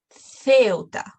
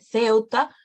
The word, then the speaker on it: Ceuta: Lo pronunciamos como th, we pronounce it as th before E and I, before E, I. Por ejemplo, Ceuta, Ciudad Real, Cincinnati.